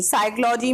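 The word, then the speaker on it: psychology: इन the word साइकोलॉजी साइकोलॉजी में piece writing में लगा हुआ कि की कोई साधन नहीं आ रही है इसलिए पी लेटर साइलेंट हो जाएगा ऐसे यह साइकोथैरेपी में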